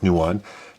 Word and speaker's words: Nuon: gameplay on this thanks for watching guys Toba Newan it's pronounced Newan and there were other companies like Samsung made